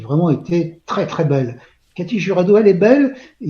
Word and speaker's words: Katy Jurado: Tous ce soir, on va mal prononcer son nom parce qu'on va le prononcer à la française. Normalement, on devrait dire Katy Jurado.